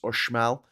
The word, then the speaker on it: Uxmal: be pronouncing that wrong, because I know in in Mexico, X is spelled like pronounced like a ch noise. So what looks like Uxmal is pronounced Ushmal.